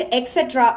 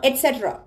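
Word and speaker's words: et cetera: ஸோ இதை எப்படி pronounce பண்ணணும் அப்படின்னு பார்த்தீங்கன்னா எட்ஸெட்ரா, எட்ஸெட்ரா. ஸோ இன்னில இருந்து எக்ஸ்ட்ரா எக்ஸெட்ரான்னு சொல்லாம எட்ஸெட்ரா அப்படின்னு சொல்லுங்க.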